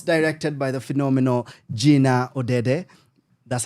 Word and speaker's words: Odede: Of course, directed by the phenomenal Jinna Odede.